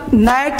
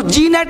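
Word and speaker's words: gnat: जैसे जी साइलेंट है तो अब देखो, अब यहाँ पे नेट, sign, resign, rain, design, अब इसको जी नेट नहीं पढ़ेंगे, रिजाइन नहीं, साइन, अब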